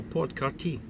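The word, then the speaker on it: Port-Cartier: Kati Port Kati and it's written like Cartier, you know, like the jeweler store. And I asked this guy, I said, "How do you pronounce it?" He says, "So, Port Karti."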